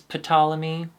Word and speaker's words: Ptolemy: I think it's Greek oh it's Ptolemy well that's how it's spent ammonia but just like my name the p is silent yeah finally we're talking